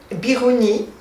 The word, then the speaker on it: Biruni: Je vais citer deux contemporains, Biruni, je vais le prononcer à la française, et Ibn Haytham, qu'en latin on appelle Alhazen.